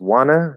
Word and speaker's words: wanna: don't trust your eyes because wanna there's no t you see a t you might wanna pronounce a t you might even be trying to hear a t there's no t you could say want to we do that sometimes but remember trust your ears not your eyes okay